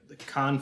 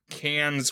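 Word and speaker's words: Cannes: of festivals right now the con festivals is that how you say it yes it I mean yes it's not cans with an S yeah I never know if it's can or con I I say it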